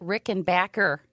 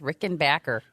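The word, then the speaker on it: Rickenbacker: and they pronounce it Rick and Backer oh excuse me Rick Tom Petty said everybody's been pronouncing it wrong it's Rick and Backer oh he's got to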